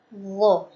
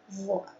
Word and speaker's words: ظ: Dan karakter huruf dha ini adalah tafkhim atau tebal. Kenapa dibaca tebal? Karena pangkal lisannya naik.